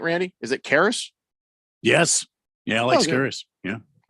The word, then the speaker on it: Karras: Is it Karras?